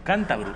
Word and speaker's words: cántabro: Cántabro, y no es ninguna broma, cántabro, con acento en la A.